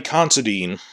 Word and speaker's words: Considine: amongst themselves uh patty considine uh i realize it rhymes with constantine constantine he people thought